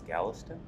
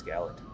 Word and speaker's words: Gallatin: couple housekeepers first uh I pronounce uh Gallatin National Forest is Galveston but it's Gallatin as I previously stated